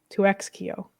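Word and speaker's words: 2XKO: I was like, well, maybe you're supposed to pronounce it double knockout and they're just being funny. No. No. 2x KO. 2x KO. Yeah. 2X Kio.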